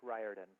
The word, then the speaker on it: Riordan: hi my name is rick riordan long eye like in rye bread we even have here